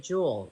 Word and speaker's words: Jewel: to the end of Jewel and it's Jewels but it's just Jewel just Jewel people be like I'm going to jewels no you're not you're just going to Jewel Jewel no s like jewberg like Jewel